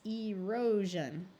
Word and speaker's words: erosion: and pronounce them correctly remembering that the SI in these words because it is taking the place of a d or an SE is going to take on the voiced J sound all right we have